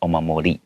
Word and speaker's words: omamori: If I pronounce it like in American English, I would probably pronounce that last R with a hard R. 哦。 Omamori. Okay. So because it's Japanese, usually the R sound is not as hard 没错。 as American English. 没错。 So that's why I'm pronouncing it omamori.